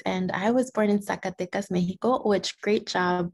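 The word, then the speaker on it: Zacatecas: is carolina ortiz and i was born in sakatecas mexico which great job pronouncing it by the way because it's not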